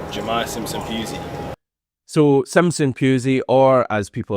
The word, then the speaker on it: Jahmai Simpson-Pusey: Jahmai Simpson-Pusey, Jahmai Simpson-Pusey, Jahmai Simpson-Pusey.